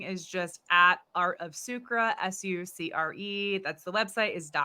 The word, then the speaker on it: Sucre: Also, we forgot to touch on the name, how I pronounce it with the French. You pronounce it as Sucre.